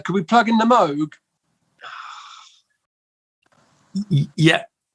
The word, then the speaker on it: Moog: moog pronounced his name moog i know that the proper way but they just are